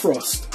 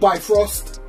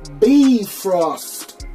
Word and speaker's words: Bifrost: Oh, and by the way, I got in contact with Aztec and that is pronounced Brost, not Bif Frost, Brost.